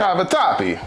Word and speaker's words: cavatappi: You went cavatappi noodles instead of macaroni. I went and Googled the proper way to say it. Oh, okay. Cavatappi.